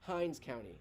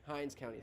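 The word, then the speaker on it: Hinds County: have uh have just confused some names okay Hines County Hines County thank you for those who are for letting me know how to pronounce that yeah I have some folks who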